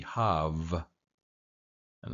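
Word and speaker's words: חַוָּה: technically, this would be, the first syllable would be hav, and the second syllable would be va. So hav, va, hava.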